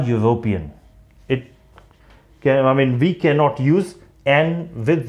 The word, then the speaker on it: European: Again, you, it has got a consonant sound, so we do not have to use an. We will pronounce it as, we will speak this sentence like he is a European.